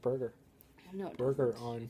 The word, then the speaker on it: Bergeron: asked you about Patrice Bergeron I don't like Bergeron pretty much anyone on Boston I just don't like but his name sounds like Burger on his first name was